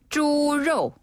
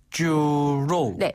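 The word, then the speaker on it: 猪肉: 사랑하죠 돼지고기는 뭐라고 하죠네 돼지고기는 쭈로 쭈로네 이때 입술 모양이 돼지처럼 약간 돼지 꿀꿀꿀 하듯이 쭈로 한번 더 주로 주로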